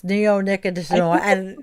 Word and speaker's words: neonicotinoid: I Googled, how do you pronounce neonicotinoid? And we listened to it like 4 times. It's like a 7-syllable word, right?